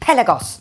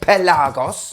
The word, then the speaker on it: Pelagos: diver a lot of YouTubers out there are pronouncing it pelagos which just makes me think of a pelican